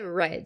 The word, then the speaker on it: read: Esse red, a forma é a mesma do read, né? Mas a pronúncia é red.